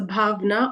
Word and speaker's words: Bhavna: difference doesn't exist so if you see a v or a w it's going to be a v v sound so bhavna agal so it's the